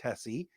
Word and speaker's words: Hessie: And yes, uh if I butchered Parker Hessie's name, I know Dan Campbell called him Parker Hess once. I know it's Hessie.